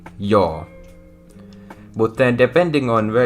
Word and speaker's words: joo: So yes, the actual way of saying it in Finnish would be joo.